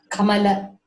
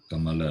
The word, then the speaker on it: Kamala: Kamala. Kamala, not Kamal. Kamala. It is La. Okay. Thank you. So like Hindi, we should not cut the last vowel. It should be pronounced as it is.